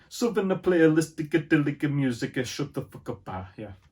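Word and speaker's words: Southernplayalisticadillacmuzik: Yeah, you have to say it like an Italian. Southern Playlistic Music.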